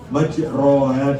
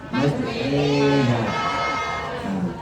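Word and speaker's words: مجراها: Maksudnya majroha dibaca majreha.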